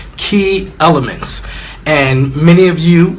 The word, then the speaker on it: Kee: My last name is Kee, so I'm fortunate enough to be able to kind of play off of my last name. It is pronounced exactly like K-E-Y, but it's spelled K-E-E.